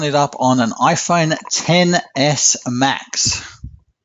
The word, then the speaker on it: XS: up on an iPhone 10s Mac's not an XS Julian it's a 10 s I will note that